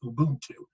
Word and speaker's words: Ubuntu: And there was this methodology a lot of the citizens had there, and it's pronounced Ubuntu, or I am because we are, and this very community-centric ideal.